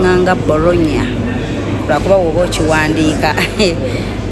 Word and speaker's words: Bologna: Yeah, bagipronouncing nga Bologna.